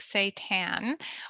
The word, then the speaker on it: seitan: you can get creative and try something like seitan which is a wheat based uh plant protein um so it's spelled s-e-i-t-a-n um and you can do all